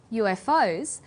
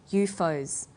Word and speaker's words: UFO: UFOs stands for unidentified flying objects, things from outer space that fly through the sky.